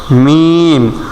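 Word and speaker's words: ميم: কিভাবে লাম লাম মিম মিম দুই ঠোঁটের শুকনা জায়গা হইতে মিম দুই ঠোঁটের ভিজা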